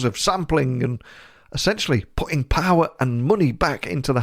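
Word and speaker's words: Pär: Swedish name so it's power enquist you pronounce the first name sort of like a pear the fruit or a pair of jeans or a stereo pair some co-founder of a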